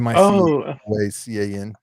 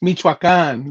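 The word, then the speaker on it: Michoacán: Miocon. It's a Spanish, or it's a place in Mexico. Oh, Michoacan. Miocon. I don't spell know. it again. Michoacan. Michoacan.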